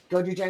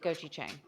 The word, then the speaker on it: gochujang: But I thought doing that mixed with a little honey and gochujang would be a great sort of bridge the gap here and also make them super flavorful.